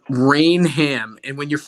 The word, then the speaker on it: Rainham: Rainham is correct. That's what the locals taught me. Just I got embarrassed at a bar. I'm not doing it anymore. It's Rainham. I'm pretty sure you put the So emphasis on the wrong syllable.